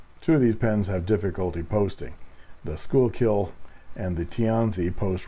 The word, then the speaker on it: Schuylkill: It's pronounced Schuylkill, unfortunately.